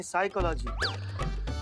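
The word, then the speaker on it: psychology: हैं पिसाई का लागी साइकोलॉजी नहीं साइकोलॉजी पी साइलेंट होता है तुम हो जा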